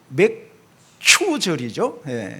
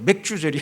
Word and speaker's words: 맥추절: 이 발음을 잘해야 돼요. 맥추절이죠. 맥추절, 맥주절이 아니고 맥주, 보리 맥자를 말하죠.